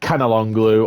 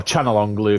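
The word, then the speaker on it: Çalhanoğlu: is none other than 96 rated Canalonglu, or Chanalonglu if you want to be the proper pronunciation.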